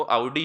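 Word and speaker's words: Audi: Proper करें तो actually उसका प्रोनाउंसिएशन जो ऑडी कार है वो भी ऑडी नहीं है, तो वो आउडी है, तो अपन लोग ऑडी बोलते हैं उसको। हाँ एक्चुअल में उसका एक्चुअल प्रोनाउंसिएशन आउडी है।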